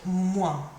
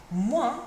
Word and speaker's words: moins: to use the word moins. Moins. Moins means minus, so plus meant plus, moins means minus. Moins. Finishes in your nose, quite a nasal sound that one.